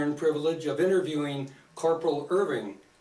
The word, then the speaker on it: Irvin: thank you Corporal all right Corporal will you pronounce and spell your full name please Irvin i r v i n